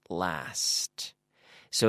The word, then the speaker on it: lasts: The pronunciation of that sound is very important. STS. It lasts. So it lasts. And we make this sound by having our teeth together and blowing out like the standard S sound.